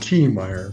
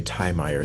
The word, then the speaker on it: Tiemeyer: My name is pronounced T- Meyer, by the way. Oh, I was going to say Tyer, so I am so glad you said that.